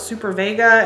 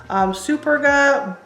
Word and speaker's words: Superga: I always thought it was Super Vega, and then I realized there's no V. Superga Bordeaux Velvet Couture Classic sneakers.